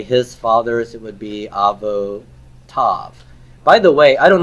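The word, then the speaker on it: אבותיו: So when the yod is silent, we don't transliterate that? You will transliterate it because you're representing what's in the written system, but you're not going to pronounce it.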